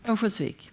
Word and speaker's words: Örnsköldsvik: Örnsköldsvik. Yes. Your pronunciation is much better.